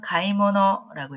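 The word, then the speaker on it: 買い物: 사용을 합니다 자 그다음에 쇼핑이라고 하는 단어는 일본어로는 가이모노라고 읽고요 그다음에 심부름이라고 하는 거는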